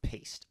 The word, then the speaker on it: Piest: They go searching for Robert Priest.